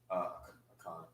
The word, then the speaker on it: Achan: Achan.